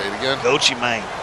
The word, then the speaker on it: Gucci Mane: this side rocking that gucci mane got to make sure you say it right so Chi mang don't you mine so